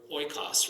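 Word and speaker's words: οἶκος: the word, let's see, the word oikos, right? You would think, okay, that's 3 syllables, but it's only 2 because the oi is what? A diphthong, so it stands as one vowel together.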